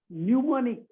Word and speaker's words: mnemonic: Mnemonic, M is silent.